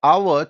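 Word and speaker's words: hour: ఏంటి like for example కొన్ని words like அவர் ఆ హానెస్ట్ హానర్ వెహికల్ వెమెంట్ ఈ అన్నిట్లో కామన్ ఏందంటే హెచ్ is silent H is silent so ఆ హానెస్ట్ ఆన్ వెహికల్ వామెంట్ అన్నిట్లో హెచ్ అనే లెటర్ అనేది సైలెంట్ అన్నమాట ఎప్పుడనే ఎప్పుడైతే హెచ్ అనే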